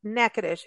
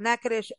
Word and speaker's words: Natchitoches: o c h s nacadish it doesn't sound how it's spelled but you've got to go there don't let that spelling get you just go there check out nacadish docomo be talking about